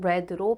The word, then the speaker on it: read: 아닌 R 형태는 같은데 과거 분사는 발음이 레입니다 과거 동사도 레로 발음하죠 그래서 have you read